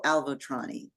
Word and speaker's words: Avaltroni: Avaltroni. Did I pronounce that correctly?